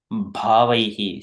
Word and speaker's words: भावैः: So there is a BH. We need to pronounce bha. It is a we're stressing bha and bhota and bhunkte, bhuteshu. These are, it comes, this little bit of air also comes from the mouth.